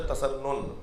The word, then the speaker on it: تسنن: ایک home work یہ ہے کہ آپ علاقے کے 1 سال میں سارے علماء اہل تسنن، چاہے اہل تسنن، صحیح تلفظ ہے تسنن، اہل تسنن، اہل سنت کے تمام مسالک کے علماء کو جا کے سلام کریں گے.